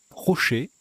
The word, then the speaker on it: trochet: Et non, ça se prononce bien troché, pardon, je fais une erreur, excusez-moi. Ça se prononce bien troché.